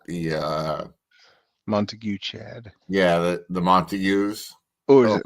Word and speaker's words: Montague: I think it's a Montague in my eyes. Yeah, the way it's spelled. Correct. I do know a little bit about fucking Shakespeare, and that sounds like a Montague to me.